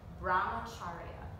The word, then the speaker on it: Brahmacharya: So number four, underneath the yamas, this is a mouthful, okay? Brahmacharya is how it's pronounced.